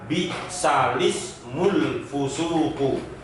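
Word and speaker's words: بئس الاسم الفسوق: Yang semula al-ismu menjadi lismu. Sehingga kalau digabung bacanya adalah bisalismul fusuku. Ya, bisalismul fusuku. Itu cara membaca yang ada di lafaz bisal ismu.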